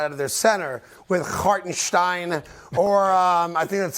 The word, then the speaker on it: Hartenstein: the 5 spot, out of their center, with Hartenstein or I think that's how you pronounce it, Hartenstein Nailed it.